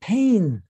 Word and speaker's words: pain: he's like see you that's parisian he's like but we don't say it that way down here you know in the